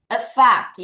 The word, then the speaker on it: affect: Affect 얘는 빨강이 가셔야 되겠습니다. 자, 발음 주의하세요. aff입니다. aff. A가 애가 아니라 어, a fact.